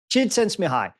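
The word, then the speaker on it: Csikszentmihalyi: but in fact I can't pronounce his name sense mahaley how do you pronounce it Gerald J sent me high jid sense mihi when he wrote about flow he's the father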